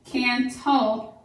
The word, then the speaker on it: cantaloupe: Cantaloupe, there's can, ta-lope. 1, 2, 3 syllables. And that would actually go after tall. Cantaloupe.